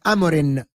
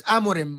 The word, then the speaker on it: Amorim: why people pronounce it Amarin though it's amim why do people say Amarin why s says amorin a lot of man united Fans Say Amarin I don't know it's amorim with an M at the end